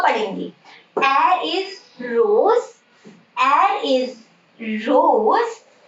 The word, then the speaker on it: R: It is not R, it is air, air.